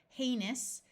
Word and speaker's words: heinous: to Goods being shipped heinous although ouu usually says ow O U S at the end of a word is pronounced us something that is heinous